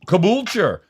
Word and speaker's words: Caboolture: I'm afraid to pronounce the town you were actually raised in, but Caboolture? Yes, spot on. Caboolture.